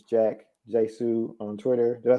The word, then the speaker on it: Hsu: It's Jack Jesu on Twitter. Did I say it right? Jesu. Yeah. Okay. The H is silent, which trip a lot of people up.